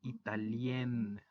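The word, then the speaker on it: italienne: Y en el caso del femenino, se rompe la nasal y se dice italien.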